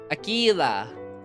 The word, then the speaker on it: Aquilla: I'm pronouncing it the Spanish way. The Spanish way. Uh, Spanish. Akila. Got it.